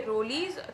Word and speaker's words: Rolle's: इसमें हम डिस्कस करने वाले हैं रोल्स थ्योरम या कह लीजिए रोलीज थ्योरम, जो भी आपके यहाँ प्रोनाउंस किया जाता हो।